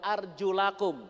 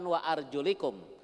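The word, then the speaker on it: أرجلكم: wa arjulikum di USA tapi kebanyakan Alquran riwayat hafsh itu membacanya KUA arjulakum bukan wa arjulikum sehingga kaki itu harus dibandingkan indoxx1 kondisi itu ada memang al-quran yang dibaca boleh dibaca arjulakum boleh dibaca warjo likum sehingga itulah yang menyebabkan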